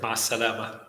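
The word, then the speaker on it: مع السلامة: Ma salama. Ma salama.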